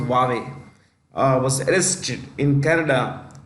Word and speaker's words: Huawei: Chief Financial Officer of Huawei yeah Wally it's pronounced Huawei uh was arrested in Canada uh upon the